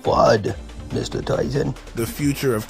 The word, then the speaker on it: FUD: It's pronounced FUD, Mr.